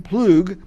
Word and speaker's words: Ploog: our next guest Steven Ploog do I say it right yes sir pretty good people get it wrong about imagine if they do PLO G and you're a musician